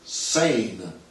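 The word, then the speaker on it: seine: hundreds of years was sane fishing for Pils using a type of net called a San net which is spelled s e i n e like the river s that runs through Paris now I don't know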